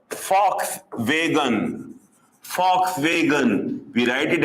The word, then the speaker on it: Volkswagen: pronounce it is Volkswagen we call it as Fox vegan Fox vegan we write